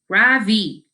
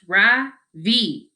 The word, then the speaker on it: Ravi: first name is ravi it's pronounced ra vi with a soft ra and a strong v in sanskrit it means the sun in american people call me ravi with the stress on the first syllable that doesn't mean anything